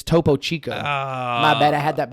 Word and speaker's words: Topo Chico: And then there's another one, Chocotipo, or I don't know that one.